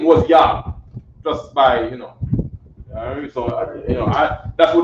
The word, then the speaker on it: Iah: It's not Yah like the sort of the Lord's name. It's Yah like I-A-H, but it's pronounced Yah.